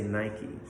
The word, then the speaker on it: Nike: people feel about it if you say Nike which is again in two syllables but you say that